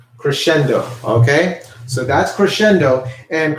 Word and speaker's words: crescendo: little in volume that is what's known as Crescendo everybody say that Crescendo actually I'm going to